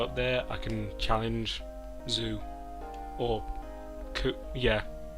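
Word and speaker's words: Xu: Because now I can go up there, I can challenge Zoo. Or, yeah, it must be Zoo. That's how X's are almost always pronounced when it's the start of a word.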